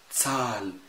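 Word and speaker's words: Zahl: القاعدة يا جماعة، إذا جه حرف متحرك من الخمسة اللي إحنا قلناهم زائد ها، رجاء ما تنطقش الها، مد الحرف المتحرك، هيصبح الحرف المتحرك الفوكال هنا لانج، طويل. إزاي؟ تسال، تسالن، إينن، فشتين.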